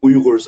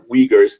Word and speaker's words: Uyghurs: you to even know who the Uyghurs are, or Uyghurs, the Western way of saying it, pronunciation.